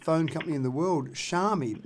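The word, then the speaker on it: Xiaomi: the third biggest phone company in the world shami not many people in australia have heard of it it's spelled x i a o m i and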